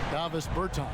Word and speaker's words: Davis Bertans: Oh, well, now, at this point in my life, it's DeVos Bertans. Is that how you say his name? Yeah. Davis Bertans.